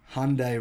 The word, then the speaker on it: Hyundai: Americans, by the way, I've seen your comments saying I say Hyundai wrong. It's not pronounced Hyundai. You guys say it like that in America. That's fine. Everyone says it differently. But here in Australia, we say Hyundai.